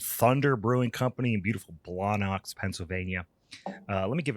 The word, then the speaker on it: Blawnox: And just to say it just say it phonetically like that, Blawnox, is such a a Pittsburgh thing to It's perfect.